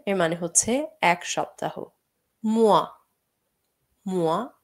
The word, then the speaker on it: mois: Mois, mois এখানে s টা আমরা উচ্চারণ করব না। Un mois এর মানে হচ্ছে এক মাস।